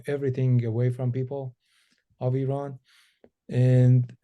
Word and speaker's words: Iran: what's going on in Iran what how did that what was the inspiration behind that song with everything that was going on yeah well we pronounced it Iran it's not Iran um but yeah um